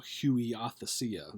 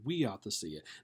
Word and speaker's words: huiothesia: it looks like uh looks like you know Huey othea okay but it's pronounced we ought to see it now what this is this is a Greek